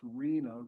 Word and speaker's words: RHNA: We've heard this word rhna spelled pronounced reena regional housing needs assessment.